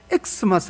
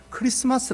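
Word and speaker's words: Xmas: x 마스 x 마쓰 근데 이거는 요 x 마스 하고 있는게 아니에요 이거는 크리스마스 라고 읽어야 되요 x 저 왜냐 먼저 x 는 요 영어 스펠링이 아니에요 병상 한번 뭐 실내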